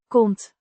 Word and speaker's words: komt: Komt, Means comes, pronounced komt. with the O, sound similar to the o in come, but slightly shorter.